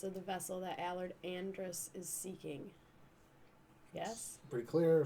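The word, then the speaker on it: Andras: wizard I'm trying really hard not to say Andross I guess so what is it was Andrus was that it yeah how do you spell it a-n-d-r-e-s that's right uh it is a-n-d-r-a-s Andrus is seeking what's that oh sorry I was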